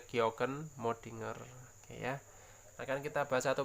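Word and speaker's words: kjökkenmöddinger: dan Abris Sous Roche ini tulisannya ke Joken kita bacanya georgen modinger Ya akan kita bahas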